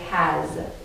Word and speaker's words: has: know you can use a word that has an s that sounds like a z and if you need